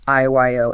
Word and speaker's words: IYO: That company is called IYO, Inc.